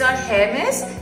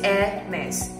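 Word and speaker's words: Hermès: Is our hair mess? It's air mess. Call me Zay. No, no. Police Narda. E Sa Lahom. Nonwa. Edis de Venustas. Com de Garso. Dom Perignon. Shopa. Zivonchi. Air mess.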